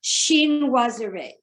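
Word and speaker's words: chinoiserie: intricate sheen was a i just looked up how to pronounce this word and it is shin wazarey okay that meaning the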